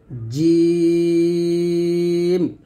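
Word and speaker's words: جيم: তারপর হচ্ছে জিম। জিমটা জিহ্বার মধ্যখান তার বরাবর উপরে তালুর সঙ্গে লাগিয়ে উচ্চারণ করতে হবে।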